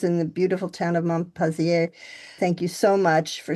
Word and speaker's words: Montpensier: In Montpensier.